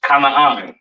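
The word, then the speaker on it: כנען: This is pronounced Canaan, all right?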